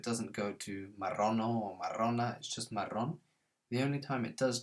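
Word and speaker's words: marrón: brown and we've got that nice rolling r in maron maron ends in a consonant so it doesn't go to marano or marona the only time it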